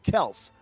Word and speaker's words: Kelce: Now, his name is actually Travis Kels, but everyone keeps pron mispronouncing Kelsey.